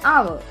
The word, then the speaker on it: hour: Here the letter H is silent.